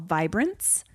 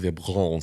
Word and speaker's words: Vibrance: by a brand called vibrants and I use the calm down it's pronounced vibron vbr vbrs Vibrance patches